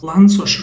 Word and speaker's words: Lanczos: this last one called, this one's actually pronounced Lanczos resampling, after Hungarian physicist Kornél Lanczos.